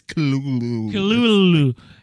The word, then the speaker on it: Cthulhu: I wake up, ATT, walk my dog, ATT, feed my pet, Chitluhu? How do you say that word, Dan, the weird octopus thing? Cthulhu. Technically, it's Kululu.